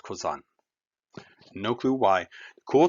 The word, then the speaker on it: Cousin: drives me crazy because it's spelled like cousin but it's pronounced kozan no clue why the